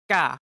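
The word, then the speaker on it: 까: Or ka. One more time. Ka, ka, ka. But it's more likely read as ka. To pronounce it correctly, pull your jaw as you speak.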